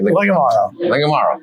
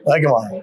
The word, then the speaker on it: Legamaro: Is it French? No, it's not. It's a hard G. It's a hard G. Legamaro. Legamaro.